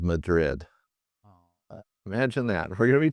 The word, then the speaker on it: Madrid: gym of a town called Madrid pronounced Madrid by locals this enchanting place was